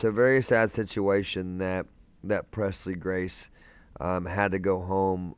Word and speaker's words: Presley: That's exactly how you say it. Presley Grace, just like the last name, Elvis Presley, just the way you spell his last name.